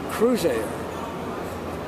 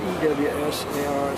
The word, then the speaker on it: Cruisair: A friend of mine said, call it Cruisair. It sounds like boating, and your name, Cruisair. But I was not so vain as to call it Crewassar, so I named it Cruisar. Sounds the same, but it's spelled more in accord with both.